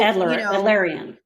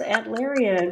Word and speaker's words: Adlerian: And so, Alderian. And I'm sorry. No L. I'm like, for a minute there, I'm like, is there a different pronunciation? I think it's Adlerian, but right.